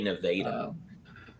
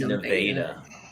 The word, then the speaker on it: Nevada: But they don't they get mad when you say it. They say Nevada. This is Nevada.